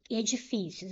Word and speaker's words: edifícios: Edifícios. Última, penúltima sílaba mais forte. É uma palavra paroxítona.